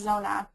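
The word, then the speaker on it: Zoona: business called zona it's spelled z-o-o-n-a and it's pronounced zona zona's goal is to create a cashless africa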